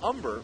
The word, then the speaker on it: Humber: his teammates who know the H is silent the nickname you can hear the H so his last name is umber but one of his